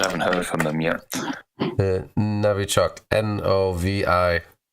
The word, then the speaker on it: Novichok: Novichok. Novi. Like it's written with O in English, but it's Russian, so it's pronounced Navi.